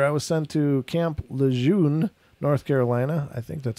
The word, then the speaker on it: Lejeune: A few months later, I was sent to Camp Lejeune, North Carolina. I think that's how you pronounce it. Camp Lejeune, yeah.